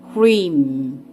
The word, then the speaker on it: Hrim: Bijakshara, seed syllable pronounced Hrim.